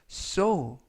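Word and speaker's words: sew: 주세요 또는 일렬로서 주세요라는 표현이 되겠습니다 2번 표현은 so so so라고 발음하시면 되겠고요 품사는 동사 뜻은 바느질하다 또는 꿰매다라는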